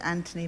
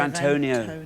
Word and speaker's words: Antonio: I said Anthony Banderas. Oh, yes, instead of Antonio. Oh, you were anglicising it.